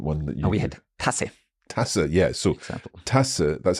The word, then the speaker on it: Tasse: vowel in front of it is pronounced short. So if you see the word Tasse written, you know, oh, it's not Tasse, it's Tasse. Tasse, okay.